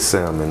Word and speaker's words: salmon: ready get that good salmon up there yeah good stamina for the people make sure you don't pronounce the l people go crazy make